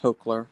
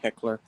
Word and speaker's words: Heckler: served on the usss hler Heckler sorry Heckler is how you say it um they had